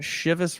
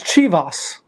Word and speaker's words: Chivas: well fellow whiskey noobs I thought it was chos and I thought I was trying to be creative you know the O like chos like yeah know okay